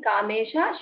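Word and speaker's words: कामेश: The shakara in kamesha should be sha.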